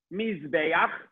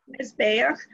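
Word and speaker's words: מזבח: You always say this a letter with no vowel, you connect it to the letter before. It has a vowel, but in this case, the vowel is silent.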